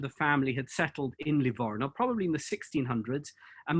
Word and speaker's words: Livorno: all the history books but today everybody calls it lavona and it's it's a